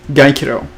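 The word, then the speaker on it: Gyokuro: r o it's g-y-o-k-u-r-o that's what it is gaikiro is how you pronounce it uh but i don't it's that's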